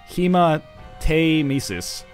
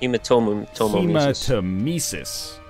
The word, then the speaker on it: hematemesis: It's pronounced hematemesis, not hematemesis.